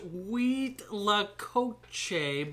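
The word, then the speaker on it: cuitlacoche: are we having today you say it it's pronounced wheat Lakota but it's spelled corn fungus c-u-i-t-l-a-c-o-c-h-e corn mushroom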